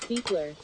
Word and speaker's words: Buchler: Ken Buchler says, by the way, my last name is pronounced Beekler.